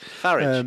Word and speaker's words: Farage: a milkshake out more milkshakes at farage please farage come on pronounce his name correctly that's that's how it's